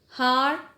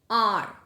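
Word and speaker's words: hour: Because H is silent, so the next letter is R, and we don't even say har or however, we say R.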